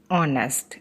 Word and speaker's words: honest: Now, in this example, H is silent and we pronounce the word as honest.